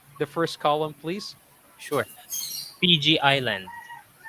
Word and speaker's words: Fiji: but so f so make sure you you pronounce that really clearly uh put some air into it fiji not fiji okay okay and then